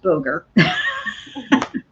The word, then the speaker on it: Boger: So just everybody on the show, so you know, his last name is pronounced Boger.